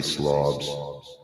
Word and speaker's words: Slavs: It's, spelled like slaves, but I'm going to say Slavs.